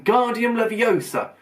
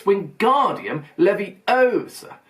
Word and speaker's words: Wingardium Leviosa: much more look when guardian Leviosa he shouted waving his walk long arms like a windmill you're saying it wrong Harry heard Hermione snap it's wingardium Levy Osa make the gun Eisen